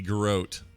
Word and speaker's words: garrote: Garrote. Garrote. Ah, garrote. Garrote. Oh, he says. Oh, damn it! It says a variant. It can be garrote, and it's still good.